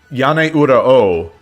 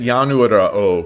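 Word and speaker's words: Yaneura Ou: Um, I'm going to pronounce it that the way I dream of shogi said it. Yan. Yane Ura Oo. I I've always been pronouncing it Yanuura Oo because I thought I thought they were trying to do that, but that makes no sense, right? So, it's it's yan ura o. I've just never heard anyone pronounce it.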